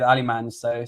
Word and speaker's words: Alemany: should have known because Luis Miguel Echegaray told me to stop pronouncing the Y, but I completely forgot.